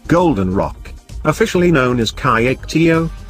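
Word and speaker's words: Kyaiktiyo: in Southeast Asia Golden Rock officially known as Chi actio pronounced sure tio attracts visitors and religious pilgrims to trek to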